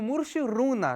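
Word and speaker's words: Mushuc Runa: palestino do Chile unão da Argentina e o mur runa do Equador é assim que se pronuncia e eu recomendo que vocês Ouçam o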